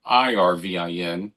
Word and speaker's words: Irvin: But he spelled his name Ervin, and I spell mine Irvin, but it's pronounced the same way.